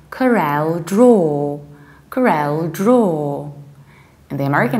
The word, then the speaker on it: CorelDraw: is no weather whenever you have aw you say oh like draw like raw or like law because low means something totally different and that's why we say CorelDraw CorelDraw the American accent